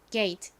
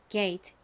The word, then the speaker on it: gate: 소리 a 소리가 나는 거죠 그래서 발음이가 됩니다 발음해 볼게요 gate gate 좋습니다 같이 적어 볼게요 g a t gate